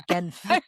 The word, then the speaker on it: Genf: It's Genf. Should really give all 3 pronunciations right there.